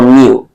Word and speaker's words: mu: coefficient of friction or mu this is how you this is how it's pronounced this is a Greek letter mu let me write it